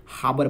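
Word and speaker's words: harbour: हरबर मत पढ़िएगा, हाबर पढ़ा जाता है, हाबर।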